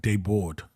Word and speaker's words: Des Bordes: Yeah, our last name is German, Des Bordes, but it's pronounced Debord. Oh, right. Debord. Yeah, the S's are silent, but I think it's German.